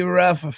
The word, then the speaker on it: Rough: today we have a very special guest Ruff from the new Roses Welcome welcome to the channel wow did I pronounce the name correctly it's ruff r yeah